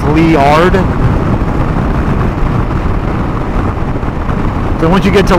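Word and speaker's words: Liard: get to uh leard I said lard lard but it's actually Lee like the name Lee l e e although it's not spelled that way but I've been told by the locals phonetically it's leard so once you get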